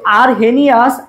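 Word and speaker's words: Arrhenius: সো আরহেনিয়াস, হানি কথাটা আছে, দেখো আরহেনিয়াস, আরহেনিয়াস এখানে হেনি মানে পানি কথাটা আছে।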